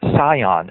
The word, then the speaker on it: Sion: It's called Zion. It's spelled with an S.